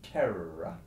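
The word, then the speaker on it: terra: hours together like in the Latin word that means land which is terror you should be rolling the double are in that word for twice as long as you would just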